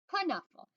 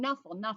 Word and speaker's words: Knuffle: Now, Trixie is saying Knuffle, and Sonia's saying Knuffle. Boys and girls, K and N, usually the K is silent, like in the word know, like I know it or I knew it.